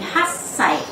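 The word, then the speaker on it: 八歳: 8 adalah hachi, sedangkan ketika diterapkan untuk usia menjadi hassai.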